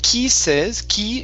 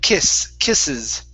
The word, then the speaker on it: kisses: Instead of kisses, it's a short I sound. Kiss, kisses. Kisses.